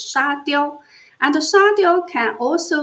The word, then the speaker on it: 沙雕: However, in Chinese language, the pronunciation of “sand statue (沙雕）” is Sha Diao; and Sha Diao can also means stupid losers（傻屌）.